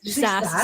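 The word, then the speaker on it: SaaS: SAS software as a service.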